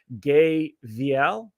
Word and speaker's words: Veale: It's the E on the end that throws everybody off. It is just veal, like the baby cow.